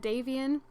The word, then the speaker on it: Davian: pregnant again and she had davian and that is how i'm pronouncing it deviant instead of like damien davian with a v so she got